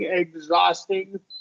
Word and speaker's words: exhausting: yeah I wanted uh the exh followed by about exh followed by about that that's going to make the X the gz right exhilarating exhausting the only uh exception is exhale okay inhale exhale exhale KS yeah then it's the ks exhausting yeah exhausting yeah